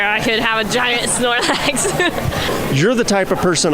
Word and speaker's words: Snorlax: you how do you say the name again Snorlax Snorlax you're not Snorlax Handler you just saw